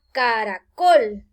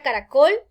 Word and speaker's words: caracol: Muy bien, acá tenemos la palabra caracol. Démonos cuenta que tiene 3 sílabas. Ca-ra-col. Pero la mayor fuerza al pronunciar caracol cae en la última sílaba.